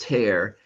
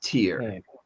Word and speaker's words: tear: So I will tear the paper and that's pronounced tear. And then this one is tear.